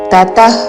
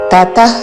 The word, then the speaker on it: ततः: ఉచ్చారణ సర్వ కర్మ ఫలత్యాగన్ తతః కురు త హ్రస్వములో విసర్గ తర్వాత క తో పదము మొదలవుతున్నది కాబట్టి నాభి నుండి శ్వాస వదులుతూ చివరన ఖ లాగా ఉచ్చారణం తతః కురు తతః कुरु यथात्मवान